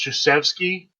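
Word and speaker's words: Krzyzewski: pronounce because you know his last name is pronounced josefsky but it starts with a k that's why they call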